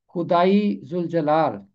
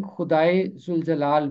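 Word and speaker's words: خدائے ذوالجلال: खुदाई जुल जलाल, ये है इसका तलफ्फुज़। अगर आप चाहें तो इसे खुदाए जुल जलाल भी पढ़ सकते हैं, ये गलत नहीं होगा।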